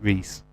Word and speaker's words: Reese: Oh, you pronounce it Reese.